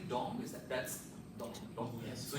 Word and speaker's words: dong: Do I pronounce this correctly? Dong?